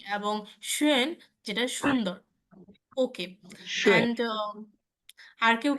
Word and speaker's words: schön: ওকে, schön, kein Problem, kein Problem, schön, ও এর শোয়েন, উচ্চারণটা ও এর মাঝখানে হবে, schön, শোয়েন, ইয়া, রাইট, সুন্দর।